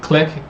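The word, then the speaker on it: Clique: like a CLI quue click is how it's pronounced but it's not spelled click it's the mouse over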